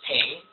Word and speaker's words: PNG: Ping was actually created as kind of a backlash against the patents on the GIF format. Now, some people pronounce it GIF, G-I-F, versus ping, PNG.